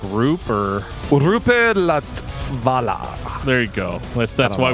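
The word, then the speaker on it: Roope Latvala: Yeah, so their guitarist, can you even pronounce his name? Me? Is it like Roop or? Rupe Latvala.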